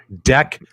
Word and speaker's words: deck: Make sure you pronounce it correctly. I know with that Canadian accent, you might get us demonetized. It is deck protector. Deck. Watch how you say the word deck, my friend, with that thick Canadian accent.